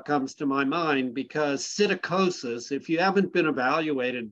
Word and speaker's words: psittacosis: So you probably deserve an evaluation to make sure that you don't have psittacosis. Do you know what I'm talking about? No. Okay, so psittacosis, it's spelled with a P-S. Sit, P-S-I-T.